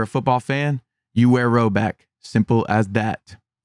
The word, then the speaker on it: Rhoback: So if you play football or you're a football fan, you wear Rowback.